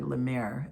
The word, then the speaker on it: La Mer: the bell jars is La Mer. their or lemir it would probably be pronounced in French.